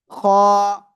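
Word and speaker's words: خ: Just বাংলায় খ অক্ষরের মতো উচ্চারণ করলেই হয়ে যাবে। খ খ খ খ।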